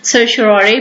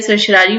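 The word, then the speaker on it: certiorari: So basically this is from सर्टन, और इसको pronounce मुख्तलिफ लोग मुख्तलिफ तरीके से करते हैं। सर्चरारी भी बोला जा सकता है, सर्चरारी भी बोला जा सकता है।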